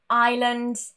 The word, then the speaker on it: island: Now, these are completely random words that have a silent S, no particular rule. Any formation of these words here will also have the silent S. For example, aisle, island, and debris.